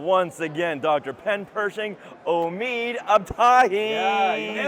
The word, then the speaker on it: Omid Abtahi: Pen Persing Omid Abahi. You nailed the pronunciation. Yeah. Ah, thank you so much. That was great. That was fun. Hi, I'm Omid Abahi.